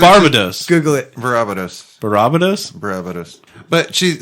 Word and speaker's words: Barbados: I have a Facebook friend or acquaintance or whatever that like lives in Barbados or Barbados. And Barbados. Barbados. That's how they pronounce it, actually.